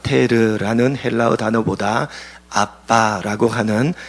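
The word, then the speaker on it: אבא: 샘 조기 사용하는 언어입니다 발음이 똑같이 우리나라 말과 똑같이 아빠 셈족 으로 아빠의 해당합니다 사도 바울은 예수님께서 하나님을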